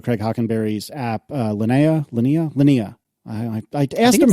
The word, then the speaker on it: Linea: go back forth yeah it's lania because it's from the Latin word for line l i n u